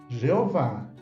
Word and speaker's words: Jeová: nome pessoal do Criador alguns tradutores modernos da Bíblia o escrevem yé ou Jé como sendo o mais aproximado da pronúncia correta entretanto Jeová é a forma popular de pronunciá-lo em português então a publicação ela